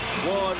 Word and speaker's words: Juan: Not hard at all, especially when you hear the name Juan Manuel Marquez. You know that means trouble as soon as the J part comes out. Although it's pronounced with a W, as in Juan, you know when you hear that, that means war.